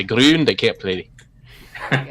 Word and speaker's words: Grun: No, it's Grun. Yeah. Grun. Grun, yeah. Gotta get that rolling R in there.